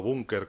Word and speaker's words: búnker: refugio del Capricho, incluso llamándolo búnker con acento en la U para que tuviera más golpe y la gente nos entendiese más lo que queríamos decir.